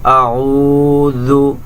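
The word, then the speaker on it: أعوذ: করে উচ্চারণ করতে হবে আউ আইন পেশ উইনটা গলার ভিতর থেকে বলতে হবে আউজু জাল পেশ জু জাল একদমই পাতলা জিহ্বার আগা সামনের উপরে দুই দাঁতের আগার সঙ্গে লাগাইয়া এই হরফটি উচ্চারণ করতে হবে জু আউজু বি রব্বিন রব্বিন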